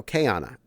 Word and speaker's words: Qiana: Probably Kayana? I apologize. I'm not the best of the pronouncers. Without the U, the Q is more of a K.